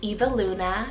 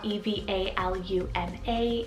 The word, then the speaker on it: Eva Luna: a literary feel to it next name is eva luna cell e-v-a-l-u-n-a eva luna and this one's a mashup name